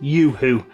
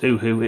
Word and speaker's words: Uhu: Apparently I should, because I'm an English-speaking country, pronounce it Yoo-hoo. I've never pronounced it Yoo-hoo, I've always pronounced it Uhu.